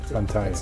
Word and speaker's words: Fantaye: Fantaye. Fantaye. exactly. Fantaye.